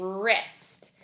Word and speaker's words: wrist: roar it's a death silent W at the beginning wrist we could also have